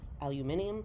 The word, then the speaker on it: aluminium: three thousand different shaped aluminum or as the british say aluminium sheets that are folded